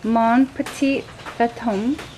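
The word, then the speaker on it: Mon petit fantôme: Mon petit fantome. Yes. Is that properly pronounced?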